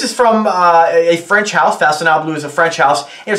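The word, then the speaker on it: Façonnable: It's F-A-C-O-N-N-A-B-L-E. This is an eau de toilette. This is from a French house. Faconnable is a French house.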